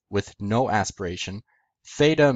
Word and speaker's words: theta: But the difference is tau in classical Greek made t with no aspiration, theta made t with an aspiration.